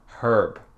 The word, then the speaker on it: herb: C'est dur parce que parfois, comme le mot herb, en anglais britannique, c'est herb avec le son H.